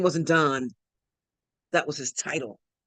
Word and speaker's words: Don: His name wasn't Don, that was his title. It's actually pronounced Don.